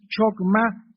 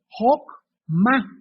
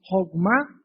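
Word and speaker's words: חכמה: corrigió y me dijo en el hebreo, la CH se pronuncia como en el alemán J, entonces no es chokmah, es hokmah.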